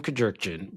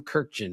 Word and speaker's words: Kurkjian: The guy, the co the host introduced me as our guest, Tim Kajerkin. That's what he said. So, I mean, look, my name our name has been butchered more times than anybody. So, but I did have to explain. All right. It's actually Tim Kirken.